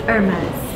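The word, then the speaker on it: Hermès: It's Hermes. Hermes. Yes. So you actually pronounce the last. It's a French brand, so you don't pronounce the H.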